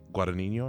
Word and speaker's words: Guadagnino: Like, so this director, Luca Guadagnino, I believe that's how it's pronounced. I believe the G is silent.